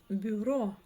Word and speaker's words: бюро: Например, а слово бюро. Бюро убираем букву Б. И буква Ю звучит в данном случае как ы.